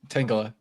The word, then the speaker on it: Tangela: No, I It's cuz I legitimately kept forgetting like what the pronunciation was. Uh okay. Tangela Tangela Tangela It's Tangela, right? Tangela.